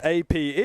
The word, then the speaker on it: Ape: Obviously, his name is APE, which spells a very different word, but it's not at all how it's meant to be pronounced. He's not named after the animal. He's named after Ape, which is an Indonesian slang word.